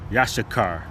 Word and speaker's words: Issachar: Now the name Issachar in the Hebrew would be Yasha Yashakar and that means he is hired.